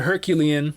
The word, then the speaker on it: Herculean: The other one, the Herculean, is that how you pronounce it?